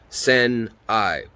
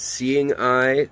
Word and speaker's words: Seneye: n e y e so it looks like sen i i'm assuming it's seeing i like c and i uh kind of trying